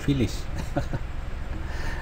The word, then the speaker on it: Filias: Kalau tengok ejaan dia, dia Filias dah. Tapi bunyi dia Filis.